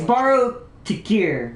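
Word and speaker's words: Baro Ki'Teer: I've never pronounced yeah it's borrow toir but I always get it backwards but but but yeah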